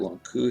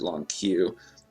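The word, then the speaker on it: Lon'qu: And in just a moment, they're going to get Long Q here. I always pronounced it Long Q. I always pronounce it Long Ku as well.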